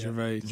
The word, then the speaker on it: Gervais: Gervais.